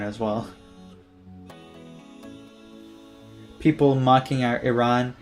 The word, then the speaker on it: Iran: But then again, I think a lot of people were sore winners about beating Iran as well. People mocking Iran, calling it Iran when the pronunciation is Iran.